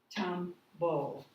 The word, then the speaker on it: tumble: Do you hear the E at the end of these words? Tumble. No.